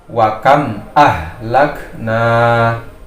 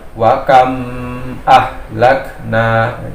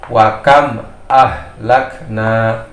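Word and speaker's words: وكم أهلكنا: huruf hijaiyah ini, membacanya saya bacakan wakam ahlakna. Nah, ya. Jadi tidak boleh bacanya yang salah itu wakam ahlakna. Jadi membacanya adalah santai saja wakam ahlakna. Tidak boleh juga membacanya kaku wakam ahlakna ya.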